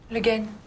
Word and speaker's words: Le Guen: Miss Legoyan, how do you pronounce that? Le Guen.